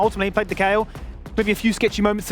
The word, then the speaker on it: Kayle: I need to say that Kayle definitely rhymes with scale, and that's exactly what we saw yesterday.